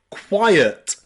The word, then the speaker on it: quiet: Number 5, we can pronounce I and E as ire, ire, in words like quiet, quiet, or society, society, or even science.